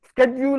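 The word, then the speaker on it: schedule: ഇപ്പൊ ഏതാ ശരിയാകും, ഷെഡ്യൂൾ എന്ന് പറയണോ സ്കെഡ്യൂൾ എന്ന് പറയണോ, ഷെഡ്യൂൾ എന്ന് പറയണോ സ്കെഡ്യൂൾ എന്ന് പറയണോ, അത് പറയുമ്പോൾ അത് ശരി, ഇത് ശരി എല്ലാവരും പറയും.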